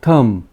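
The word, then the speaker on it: thumb: में बोलते हैं थंब इसका जो प्रनंसीएशन है उसमें हम लोग थंब नहीं बोलते ये लास्ट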